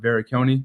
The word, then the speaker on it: Varrecchione: last name yeah so my last name is pronounced veric conone it's very Italian as you can tell